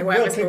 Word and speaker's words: Wycliffe: There's Wycliffe Bible College. So I would say that it's probably pronounced Wycliffe, but who am I?